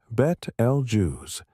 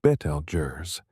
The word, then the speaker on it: Betelgeuse: Most English speakers today pronounce it Bet El Jews or sometimes Betel Jurers, echoing the 1988 Tim Burton film that shares its name. Both pronunciations are accepted. Some astronomers prefer a more Arabicleaning pronunciation closer to Betel Guz, but this is uncommon in everyday speech.